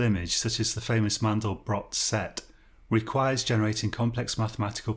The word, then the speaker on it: Mandelbrot: So, um make man Mandel Mandelbrot. I'm pretty sure it is pronounced Mandelbrot and not Mandelbro, but I could be completely wrong.